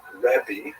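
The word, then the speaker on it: ribbi: Um and uh in Israel the the term used in late antiquity was revi that's the actual pronunciation which means my greatness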